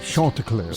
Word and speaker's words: Chanticleers: And you pronounced it correctly, Bob. Chanticleers.